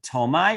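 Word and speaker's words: Ptolemy: ruled by a general by the name of tomai now tomai was probably more of a name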